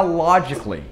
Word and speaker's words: logically: E também para logically, logically, logicamente, não é logically, não, esse A não é pronunciado, logically, logically.